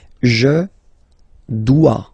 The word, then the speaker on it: dois: Je dois. Okay, remember final S is not pronounced. Je dois. OE, when you combine the two, you get the sound wa wa wa.